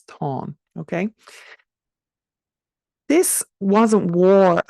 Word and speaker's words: Táin: That's T-A-Fada-I-N, not Tain as most people pronounce it. It's Táin.